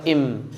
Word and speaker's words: him: কিন্তু জানেন আজকে থেকে আপনি বিদেশিরা কিন্তু ওটাকে কি বলে, ওই যে হিম আছে না, এইচ, ওই এইচটাকে ওরা কিন্তু উচ্চারণ করবে না। যেমন ধরো হিম, ওরা কিন্তু হিম বলবে না, ওরা বলে ইম, ওকে?